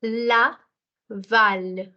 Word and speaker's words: Laval: because I'll give you a rule that the alphabet C, R, F, and L. C, R, F, L. These four alphabets, if they are coming in the end of a word, they are pronounced. And hence you will say laval, not lava.